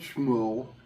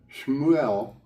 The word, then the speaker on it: Shmuel: Pronounce the word. The child Shmuel, S-H''MU''EL.